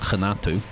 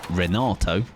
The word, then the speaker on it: Renato: If I was to just read it as I normally would, obviously, like, my initial thing, of course, go phonetically right, so I'm like, Renato, but obviously, it is not that.